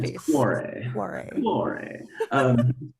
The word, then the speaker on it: Tanto Cuore: It's not Tanto Cuore. Tanto Cuore. Cuore, like a W Yeah, in my it's face. Cuore.